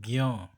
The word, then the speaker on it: ज्ञ: हिंदी में ज्ञ का उच्चारण ज्ञ, ठीक है, ज्ञ ज्ञ होता है, इसका सॉरी इसलिए इसका विस्तार ग धन य धन अ, ठीक है, ज्ञ की तरह भी अब होने लगा है, ठीक है।